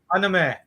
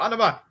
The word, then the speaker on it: anime: in japan so why people are it's actually pronounced anime anime uh so people say oh yes i'm really into anima um that means cartoon you